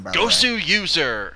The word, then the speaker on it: Goswser: Goswser, because he is a user of StarCraft 2, and it's Gosu. He's so Gosu.